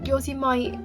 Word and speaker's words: Yosemite: Oh, Yosemite is a valley in California. Track number 8, Yosemite. I think that's how you pronounce it.